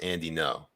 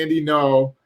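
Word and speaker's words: Andy Ngo: You just don't pronounce the G is silent. Okay. Is that real, or are we just joking there? No, it's actually pronounced Andy No. Okay, Andy No, and then some of these other propagandists out there.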